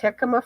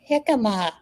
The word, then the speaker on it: jicama: Here's a recipe for I think it's pronounced jicama fries.